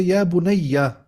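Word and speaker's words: يا بُنَيَّ: So you would say, the correct way is to say Ya bunayya.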